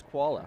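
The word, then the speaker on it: Chachvala: h v a l a and the correct pronunciation is koala yep is crazy you know how i know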